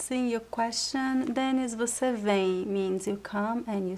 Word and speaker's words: vem: Você vem. Vem. Vem. I know it's very similar, but this one is not nasal and this one is nasal and the pronunciation is em.